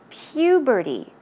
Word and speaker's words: puberty: she says during puberty that word is a bit difficult to pronounce the pronunciation is puberty PU puberty okay one more time puberty okay so she's basically